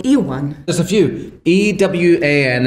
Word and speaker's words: Ewan: E-W-A-N is how I spell it. There's E-W-E-N. And then there's E-U-E-N. And then you could do phonetically. So Y-O-U-W-A-N. Yeah, Ewan. And then Ewan or Ivan. Or I get called Eugene quite a lot.